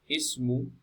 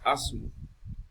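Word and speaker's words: اسم: So example, ismu. So it is not pronounced as asmu or usmu. So starting from it, ismu with kasra on the hamza. So ismu, and some other examples as well.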